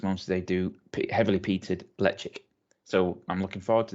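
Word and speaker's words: Ledaig: from the electric well the brand name is is electric l-e-d-a-i-g but kel woman gaelic yeah spell things out they won't pronounce them in a different way um the distillery is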